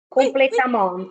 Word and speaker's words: complètement: Il faut si chaude que si nous passions 3 jours sans arroser le pelouse, jaunirait complètement. Oui. Oh là là là là. Les consonnes finales, Pinuccia, ne se prononcent pas.